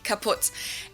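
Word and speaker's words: kaputt: moved to the us we spell it with two T's in Germany but we pronounce it the same way kaput and it basically has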